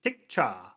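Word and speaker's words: Tikchka: It's for those listeners, it's TIK CHKA. Tikcha. Like a silent K in the second half.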